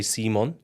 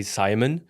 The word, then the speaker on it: Simon: it correctly you know in Sweden we say Simon Simon yeah right in English you say Simon and you know I